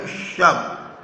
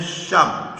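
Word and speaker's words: shove: She turned to Helu वो वेलू की ओर मुड़ी एंड गेव हिम ए शब। इसका प्रोनाउंसिएशन है शब।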